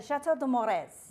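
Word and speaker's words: Château de Mores: But, I can never say the second part of that right because I am a North Dakotan. Uh Chateau de Mores. Yes, listen to her. It's beautiful how you say it.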